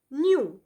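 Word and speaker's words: knew: ಅವರ ಹಣ ಕಳೆದು ಹೋಯ್ತು ನ್ಯೂ ನ್ಯೂ ಉಚ್ಚಾರಣೆ ಒಂದೇ ರೀತಿ ಕೆ ಎನ್ ಇ ಡಬ್ಲ್ಯೂ ಅಂದ್ರೆ ತಿಳಿದಿತ್ತು ಐ ನ್ಯೂ ಶಿ ವಾಸ್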